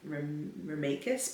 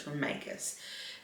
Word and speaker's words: Remeikis: I think I've been saying Remeikis, but it's Remeikis.